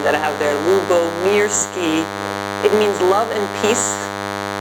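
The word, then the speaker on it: Lyubomirsky: I was actually pointing to the pronunciation key of my name that I have there, Lubomirsky.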